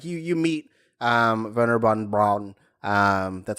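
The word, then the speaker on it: Wernher von Braun: Like you meet Werner von Braun. That's how you pronounce it.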